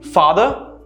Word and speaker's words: father: way to pronounce it for example father teacher notice how the last two letters are very quiet and very soft they use the schwa sound father teacher similarly weather